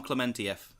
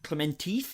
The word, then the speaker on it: Klementieff: Pom Klementieff is the actress playing Mantis. I was going to go with Clementif, but all right, It is. cool. It is. I originally said Clementieff, but it is Klementieff.